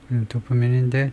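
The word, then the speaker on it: dopamine: 두파민이 스펠링이 잘못됐나? PH ph가 아니죠. 도프민인데 두면인데 어 예에 그래서 왜 그래 이게요?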